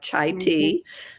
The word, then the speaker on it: Chai: I say it high on life, but it's spelled C A Ji. So like Chai Ti.